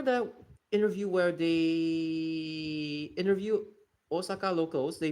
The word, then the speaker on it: Osaka: The romai distinction is needed like Osaka, not Osaka. Yeah. Basically, yeah. A lot of like non-Japanese speakers, they tend to pronounce it as Osaka.